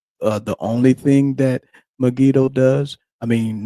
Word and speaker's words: Megiddo: Dan and she's from, let me try to pronounce this right. Megiddo. That's right. Megiddo station.